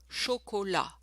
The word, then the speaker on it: chocolat: Oh, by the way, for du chocolat, again, don't pronounce the final consonant. So, du chocolat. We don't hear the T.